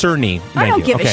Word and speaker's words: Cerny: You know, the head of Mark Kearney came out today, and he said that 30 FPS Madam, is I believe janky. I believe it's pronounced Cerny.